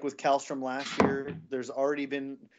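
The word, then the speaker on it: Källström: Anytime you say the word Kallstrom, and you have to say it like that, Kallstrom.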